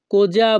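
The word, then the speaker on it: cosa: বাক্যের ইতালিয়ান ভাষা হবে কোজা ভয় এখানে ইতালিয়ান ভাষায় বানান এর উচ্চারণ হবে সি ও কো এস এ যা এস এ যা কোজা বিউ বুয়াই ভুয় ইতালিয়ান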